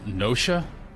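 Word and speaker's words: Noscea: It's pronounced Nosha. I've always said Noska.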